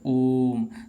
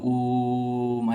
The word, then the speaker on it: ओम: हो जाएगा ठीक है इसको क्या पढ़ा जाएगा ओम तो ओम में हम क्या करते हैं दीर्घ उच्चारण करते हैं ठीक है देर तक बोलते हैं ओम ऐसे करके बोले जाते हैं तो यहां